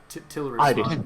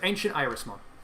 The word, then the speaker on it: Ancient Irismon: Tilrismon. Iris. The god is Iris. Iris. Oh, Ancient Iris. Okay, for I read it as an L, not an I. Ancient Irismon. Ancient Irusumon. Good, Ancient Irismon.